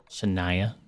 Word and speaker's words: Shania: Shania. The thing's name was Shania, like Twain. But not spelled the same.